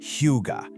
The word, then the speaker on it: hygge: Okay, first things first, you pronounce it hygge.